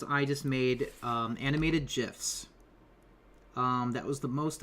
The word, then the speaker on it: GIF: or gifts okay well the creator of the format says they're pronounced Jif right and then you